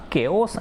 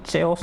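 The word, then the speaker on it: chaos: इन द केओस and confusion, है ना, देखो इसको चेओस नहीं बोलते बेटा, इसको केओस उच्चारण करते हैं।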